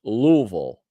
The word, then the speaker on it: Louisville: It's pronounced Louisville. I know that. I'm sorry, Crash. My Midwestern accent overtook me. Louisville. I thought it was Louisville. Hi, I'm traveling to Louisville.